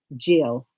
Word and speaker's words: Gisele: We typed in the name and we listened to the pronunciation and it came up Gisele.